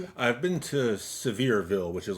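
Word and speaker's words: Sevierville: I've been to Severeville, which is like right next door to Dollywood. Severeville. I think that's how it's pronounced. It's like it's it's spelled s e v i e rville.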